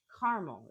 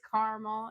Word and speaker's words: caramel: Caramel is the correct way. He says caramel because he's like, there's a second a and I'm like, it doesn't matter. It's caramel. It is always caramel. It will always be caramel.